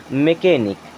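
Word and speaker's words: mechanic: वगैरह रिपेयर करते हैं उनकी भी स्पेलिंग क्या होती है एमई सी एच ए एन आई सी यहां भी एच होता है साइलेंट इसे क्या पढ़ेंगे मैकेनिक देखें कई केसेस में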